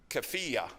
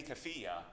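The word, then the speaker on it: keffiyeh: rubble with a um CFA I think is the way you pronounce it which is the the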